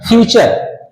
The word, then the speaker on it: future: इसको फोटो मत पड़ देना। फ्यूचर ठीक है? टी यू का उच्चारण क्या होगा? च होगा।